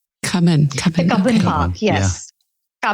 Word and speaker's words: Cubbon: And then I was fascinated by the palace, but also if I'm pronouncing this right, the Kuban Park. Cubbon.